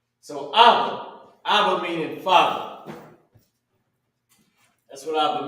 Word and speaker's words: Abba: This is how you pronounce it. Abba, this is what it means.